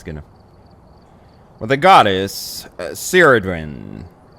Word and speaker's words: Cerridwen: the cauldron is associated with the goddess can't pronounce this. Pull it out. Yeah, it's Cerridwen. Cerridwen. Okay, yeah, it's good enough. Well, the goddess Cerridwen, not to be confused with NyQuil daytime.